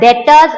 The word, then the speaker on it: debtors: Okay, read it as debt, don't say like debts, and read it as debtors, it's not debtors, B is silent.